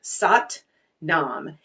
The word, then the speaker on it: Sat Nam: like from Kundalini Yoga that's very simple is sat Nam it's sat a t n m it's pronounced sat Nam and essentially it means truth and identity it's